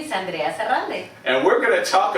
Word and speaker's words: Sarralde: I know the R's are hard to pronounce, Yes. but yes, Sarralde, you did it perfect.